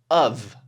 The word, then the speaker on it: of: So it comes out as of, almost like UV, of.